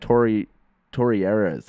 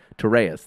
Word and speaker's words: Torreyes: We've had Torreira. Oh, I can never pronounce his name. Torreyes. That's it.